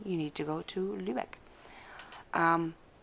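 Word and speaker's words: Lübeck: need to go to lubeck um not sure if you pronounce lubik in english lubric i'm just doing the german way and you can always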